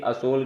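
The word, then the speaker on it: আসল: यहाँ पे दोस्तों आप समझ लीजिए कि असोल क्या होता है, यानी कि असली, असली यानी असल, क्योंकि बांग्ला भाषा में जो है ओ की मात्रा का उच्चारण ज़्यादा किया जाता है। जैसे कि वहाँ पे अगर दमा बोलना हो कि दमा का रोग है तो बोलेंगे कि हमें दोमा है। उसी प्रकार असल को बोलना है असोल, यानी कि यहाँ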